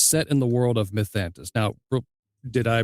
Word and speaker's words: Mythantis: okay, Uh, Timeaous Spark and the Luck Curse is set in the world of Mythantis. Now, did I pronounce both correctly?